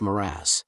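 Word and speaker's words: mirage: M age and marriage m a g is pronounced morass said valency shortly picking up her tea and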